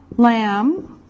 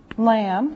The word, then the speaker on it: lamb: here we can put meat like beef beef lamb lamb remember this is silent the be is silent pork pork chicken